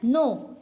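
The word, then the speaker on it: know: देखिए दिया हुआ है नो कनाव नहीं पढ़ते हैं क्या पढ़ते हैं नो पढ़ते हैं यहां पे के साइलेंट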